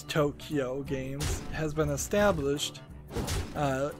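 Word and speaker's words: Too Kyo Games: Company 2 Q games t-o-o space k-y-o which I guess you could uh pronounce Tokyo games has been established uh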